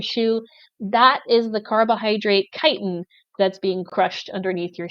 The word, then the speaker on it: chitin: I have here is kiten it's spelled like chitin but it's pronounced kiten kiten is to fungus